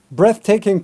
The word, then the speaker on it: breathtaking: Breathtaking pictures. Breathtaking is an awesome word choice, but watch out for the pronunciation. Breath, noun, and breathe, verb, in this case, breathtaking.